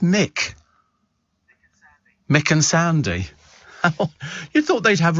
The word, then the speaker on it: Muick: But I'm sure it can't be pronounced Muick. I don't know what it means. M-U-I-C-K. And it's very odd, actually. But they sort of they seem to be carrying a bit of weight. These sort of they're sort of dogs that do carry a bit of weight. And so it's pronounced Mick.